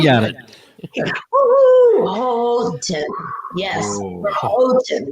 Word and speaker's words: Houghton: Houghton, not Houghton. There you go. All right. Thinking of hose, not hoe. Thank you. That didn't sound right either. So we're going to get together. Ho. Houghton Lake.